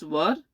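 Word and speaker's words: were: ये देखिएगा, इसको वर कहते हैं। आप इसको कभी वेयर ना कहें, क्योंकि इसका जो है कि प्रोनाउंसिएशन जो है कि वर होता है। कई लोग वेयर कहते हैं, ये गलत है, वर कहा जाता है।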